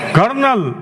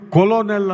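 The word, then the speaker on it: colonel: ತರ ಉಚ್ಚಾರಣೆ ಮಾಡಬೇಕು ಅಂದ್ರೆ ಸಿ ಓ ಎಲ್ ಓ ಎನ್ ಎಲ್ ಕೊಲೋನೆಲ್ ಅಂತ ಉಚ್ಚಾರಣೆ ಮಾಡಬೇಕಾಗುತ್ತೆ ಹಾಗಾಗಿ ಎರಡೇ ಎರಡು ಶಬ್ದಗಳಲ್ಲಿ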